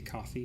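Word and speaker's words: Ko-fi: co fide link right I think it's supposed to be coffee because it's a coffee cup but in no way is ko - Jeff ice pronounce coffee in English so it's kind of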